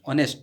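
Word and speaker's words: honest: ही इज एन ऑनेस्ट मैन, H silent, ऑनेस्ट मैन।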